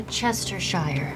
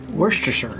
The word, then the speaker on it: Worcestershire: We're Chestershire. We're Chesters? Worcestershire. Worcestershire. Worcestershire. Worcestershire. You're right. I mean, it's spelled so differently than the way that you actually say it.